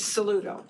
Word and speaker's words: Saludo: Saludo. So, thank you. The V is silent. Okay. Like a salute with the O at the end.